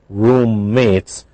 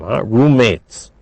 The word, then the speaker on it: roommates: three roommates linked but roommates we don't pronounce two M's only one M roommates it sounds like Rue